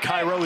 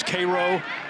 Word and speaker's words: Cairo: You go to Georgia, it's not Cairo, it's Cairo. You're up in central New York.